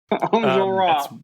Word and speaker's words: Enjolras: We meet two students and revolutionaries, Marius and, I'm going to mess up this pronunciation, Enjolras? Enjolras? Enjolras. Andrew, you want to help me? Enjolras. Enjolras. Enjolras.